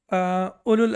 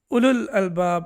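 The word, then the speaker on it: أولو الألباب: Um, and ulu, uli, ulul albab, right? So this one is used a lot in the Quran. And please remember that this wow is not pronounced.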